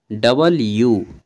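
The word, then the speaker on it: W: ये हो गया आपका डब्लू बोलिएगा ना इसको डब्लू नहीं इसका डब्लू नहीं सही उच्चारण है सही प्रोनंसिएशन है डबल यू क्योंकि ये दो बार यू जैसा बनता है ठीक है तो डबल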